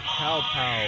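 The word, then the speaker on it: Quapaw: This is the Cow Pow Wet Bath.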